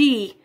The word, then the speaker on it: e: Lembrando que quando eu falo, aqui a conjunção, a conjunção é, mas quando a gente pronuncia na frase, ela tem um som de i, I.